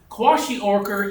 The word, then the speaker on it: kwashiorkor: What is, I'll spell it Kwash, Kalkwashior? How do you say that? Oh, kwashiorkor.